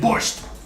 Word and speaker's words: borscht: And borscht. Noti. Borscht. Borscht. The T does not belong. Borscht. Borscht. Noti. T, noti. T is silent, but not silent. See, borscht, but not T.